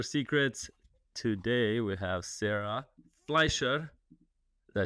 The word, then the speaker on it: Fleischer: Today we have Sarah Fleischer.